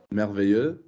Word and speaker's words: merveilleux: Merveilleux. Would you spell it? M-E-R... Good. Could you tell me why M-E-R is pronounced mer? The R makes the E go high.